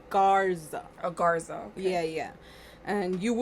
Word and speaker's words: Garza: No, but this one is Garza.